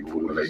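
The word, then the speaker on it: Boule: That's what basically Boulay stands for. Or ruler. B-O-U-L-E, pronounced B-O-O-L-A-Y.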